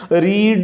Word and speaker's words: read: रीड, रेड, पढ़ना और पढ़ा. इसकी स्पेलिंग एक जैसे है लेकिन तलफ़्फ़ुज़ ज़रा दूसरे और तीसरे पाम की मुख्तलिफ है. रीड, रेड.